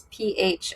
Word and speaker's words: Phiusion: It's not regular Fusion. It's Phiusion. That's Fusion right.